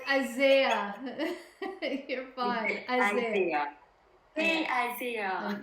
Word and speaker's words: Isaiah: I don't know how to pronounce his name, but yay, Asia. Isaiah.